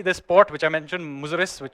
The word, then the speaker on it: Muziris: So it's at one point in history, this port, which I mentioned, Muziris, or Muchiripatnam, from the Indian pronunciation, was the biggest port in the world.